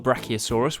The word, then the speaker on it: brachiosaurus: all about brachiosaurus how do you say that again bra oh saw russ do you know how tall the brachiosaurus was it was as